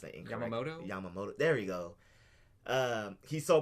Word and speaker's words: Yamamoto: things like that and then in Bleach captain Yamato I believe is his name I might pronounce a Emoto Yamamoto there you go he's so powerful that he